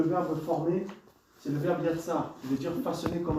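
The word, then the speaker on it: יצר: Alors le verbe former se dit Yatsar. Alors, ça s'écrit Y-A-T-S-A-R. Yatsar.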